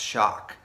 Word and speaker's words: XOC: You've been exclusively selected to receive our new limited edition XOC, pronounced Shock.